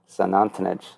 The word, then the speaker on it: Xunantunich: One was to one of the large temples, Xunantunich. That starts with an X, so I always was like, are they saying St. Anthony's? And no, it's pretty close to pronounced Xunantunich.